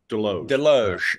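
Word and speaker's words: Desloge: How do you pronounce the founder's name? Deloge. Okay. Okay. There you go. I was pronouncing the S, but that, that sounds good.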